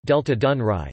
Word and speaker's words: Delta Dunării: The Danube Delta, Romanian, Delta Dunării, pronounced Delta Dunăre, Ukrainian, Delta Dunăre, translate Delta Dunaju, is the largest river delta in the European Union.